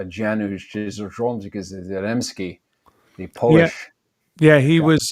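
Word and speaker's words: Janusz Kamiński: used the same cinematographer, I think it's pronounced Janusz Zaremski, the Polish. Yeah, he was he didn't used to. That guy worked with me on Black Hawk Down. That's right, Janusz Zaremski.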